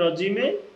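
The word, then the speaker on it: رجيم: আউজুবিল্লাহ এখানেও আমাদের এক আলিফ টান আর সাইতনির রজিমে এখানেও আমাদের এক আলিফ টান।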